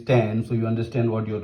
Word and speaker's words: tan: Tangent, you say tan.